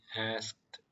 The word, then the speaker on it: asked: 여기도 디귿 발음이 경상 속도로 읽으시면 무음이 됩니다. 이것만 읽었을 때는 asked 이렇게 발음을 하지만 경상 속도로 읽으셨을 때는 The Lord asked Cain 이렇게 돼요.